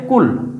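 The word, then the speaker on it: كُلْ: এজন্য একটা হচ্ছে কুল আরেকটা হচ্ছে কুল। এটা হচ্ছে কফ মোটা। এটা পুর হবে। আর এটা হচ্ছে বারিক পাতলা। এটা খেয়াল রাখতে হবে আমাদের।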